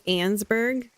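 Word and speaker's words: Annesburg: It's Ansburg.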